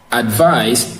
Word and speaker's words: advice: So now, advice is stressed in the second syllable. Advice is stressed in the second syllable. Advice is also two syllabic words, which is ad and vice. So advice is stressed in the second syllable, which is the vice.